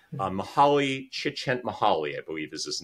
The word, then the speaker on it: Mihaly Csikszentmihalyi: It's a very difficult name to pronounce. Mihaly Csikszentmihalyi, I believe is his name.